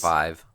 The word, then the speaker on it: Vive: that, but that is, the HTC Vive or Vive, no one knows how to pronounce that apparently, is, well, at least not anyone I know. It's Vive. Okay.